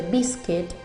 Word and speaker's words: biscuit: Y también la U, como en el caso de biscuit, se escribe con una U pero no la pronunciamos.